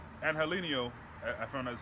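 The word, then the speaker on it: Angeliño: I will say, Angelino, I found out that's how you say his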